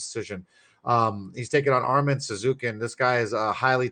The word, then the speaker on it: Tsarukyan: Those the Armenian names are Arman Tsarukyan. Tsarukyan. There you go. Thank you, bro. Freaking Mr. B's better at me in pronouncing these guys.